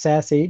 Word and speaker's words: SASE: a quick wrap-up so sassy is a pretty new term and it's pronounced sassy but it just stands for secure access service edge it was just invented